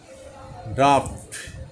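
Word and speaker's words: draught: করা ডিপেন্ড হচ্ছে কি নির্ভর করা ড্রাফট এটার উচ্চারণটা হবে কি ড্রাফট ডি আর এ ইউ জি এইচ টি ড্রাফট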